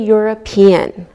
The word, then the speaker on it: European: Same with a European. We don't pronounce we pronounce the E and it sounds like a Y.